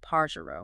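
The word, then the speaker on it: pájaro: It might seem a bit further back in the word, but listen to this parro meaning bird. You hear how pa gets the emphasis.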